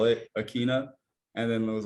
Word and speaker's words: Ikhine: Yeah, they're saying Ikhine. Tell the folks how to pronounce the last name. One last time. See, it's Ikhine, but I always used to think it was Ikhine, so like that's on me.